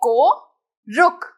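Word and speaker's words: कोऽरुक्: The purpose of avagraha is to skip it while pronouncing the word. So इसे बोलने के लिए we will directly say ko ruk.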